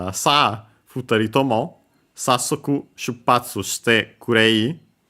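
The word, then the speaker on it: 二人: The accent is on the ri.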